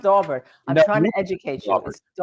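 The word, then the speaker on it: Daubert: said about the attorney the dobert family came out and said that's how you pronounce it Dober right when they had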